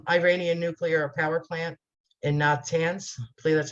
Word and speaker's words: Natanz: 2010, at the Iranian nuclear power plant in Natanz, I believe that's how you pronounce it.